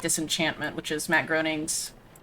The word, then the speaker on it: Groening: but I really like Disenchantment, which is Matt Groening's... Groening? How do you pronounce his name?